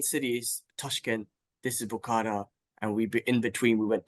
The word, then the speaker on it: Bukhara: How do I pronounce the city name? What city is this? Bukhara.